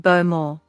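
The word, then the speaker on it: Bowmore: cue ball just said beau moore you can forgive that one you can forgive that one because you're not really supposed to pronounce the w basically actually she did um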